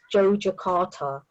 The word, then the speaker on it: Yogyakarta: And I do that because I think in Indonesia it's pronounced Yogyakarta.